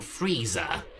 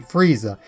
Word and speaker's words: Frieza: i in the name frieza it's just that this r i is always pronounced re as opposed to rye another good example of